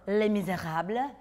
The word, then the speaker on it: Les Misérables: First up, an honest and musical trailer for Les Misérables. I say it like that because I speak French, Milana.